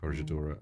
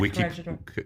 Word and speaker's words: Corregidora: And they said Corregidora. Yeah, they pronounced it soft G, but All right. I'm not Well, Portuguese. it might even be Corregidora.